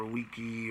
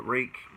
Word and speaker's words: Ruike: like it would be rook or a wiki or Waikiki whatever but the majority of the sources I found it is pronounced rake so that's just what